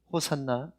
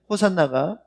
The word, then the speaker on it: 호산나: 다윗의 아들이여 찬송하리로다 호산나 호산나 그러면 사람들은 생각할 때 헬라식 발음이에요 이거는 원래는 히브리 말입니다 호아나 호시아 나라는 말이에요 호아 는 아이들이 그냥